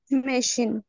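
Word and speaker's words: machine: আচ্ছা, এটার উচ্চারণটা কি? মেশিন।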